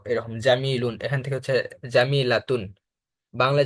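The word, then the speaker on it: جميلة: আমরা জানি যে শেষে গোলতা থাকলে যদি সেখানে ওয়াকফ করি তখন সে গোলতাটা হা হিসাবে উচ্চারণ হয়, মানে তাটা আর উচ্চারণ হয় না, ওটা হা হয়।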